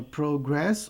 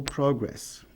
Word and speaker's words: progress: Aqui eu tenho a palavra progress ou progress. Se for substantivo, a sílaba tônica é progress. Se for verbo, a sílaba tônica é progress. O verbo tem a sua sílaba tônica na última sílaba.